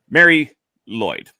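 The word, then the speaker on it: Mari Lwyd: And it is, I'll use the English pronunciation rather than the Welsh one. Mary Lloyd.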